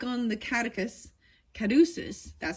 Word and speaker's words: caduceus: This card explores how love grows and entwines and becomes holistic, joining, like on the caduceus, that's how you say it, which symbolizes healing.